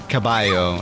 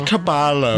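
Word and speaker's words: caballo: like what's a good double L's pronounced as like a y you know right so like like even though it's spelled cabalo it's pronounced cabayo or something but they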